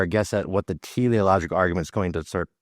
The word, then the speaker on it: teleological: This is how it's pronounced. The teleological argument.